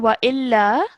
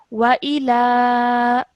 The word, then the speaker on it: وإلى: All right, so over here I've highlighted this because you said wa illa, but this is 2 separate letters with 2 separate strokes, so that is why we pronounce them separately. Wa ila.